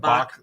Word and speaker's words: Bach: can take it CH that's how it's spelled Bach like composer and it's yell packaging